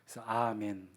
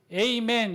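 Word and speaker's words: אָמֵן: 또 영어권이 있는 사람들이라 저걸 히브리어로 그대로 아멘으로 안 읽고 자기네 습관처럼 뭐라고 읽어요 에이맨 이렇게 에이맨 그런데 저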